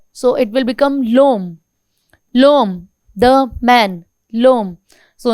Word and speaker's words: l'homme: H is silent here. So it will become l'homme.